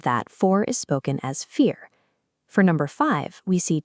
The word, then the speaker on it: vier: In German, the letter V is actually pronounced like the English F. Because of that, four is spoken as vier.